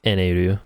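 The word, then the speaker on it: Enel: no they call him eneroo my mistake um in the manga it's spelled an l and but in japanese it's pronounced enaru because it's japanese so i think it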